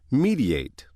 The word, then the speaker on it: mediate: as a go-between, it is pronounced mediate. Mediate.